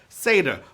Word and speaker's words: seder: vey indeed all right it's pronounced like as the half goat man from narnia right seder but it's an important